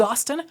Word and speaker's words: Austin: that subscribe button otherwise my name is Austin rhymes with Boston and I'll see you